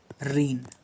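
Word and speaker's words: reign: पर है रीन और रीन भाई साहब सेम स्पेलिंग है ठीक है सेम साउंड है रेन और रेन आर ई आई एन और आरई आई जी एन सभी स्टूडेंट्स ट्राई करेंगे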